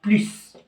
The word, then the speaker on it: plus: غنشوفو الحالة الأولى اللي بلو كتنطق بلوس. كتنطق بلوس فاش كتكون متبوعة بدو بلوس ان نون. بلوس إلا لقيتوها متبوعة بدو بلوس ان نون كنطقو بلوس.